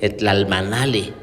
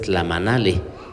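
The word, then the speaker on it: tlamanalli: Muchas veces cuando no pronunciamos bien el náhuatl, le cambiamos el significado, porque yo escucho a la mayoría de gente que dice, pusieron la ofrenda, sí, tlalmanali, y la palabra correcta es tlamanali.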